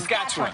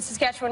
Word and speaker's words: Saskatchewan: Saskatchewan. I say it like the Muppet song.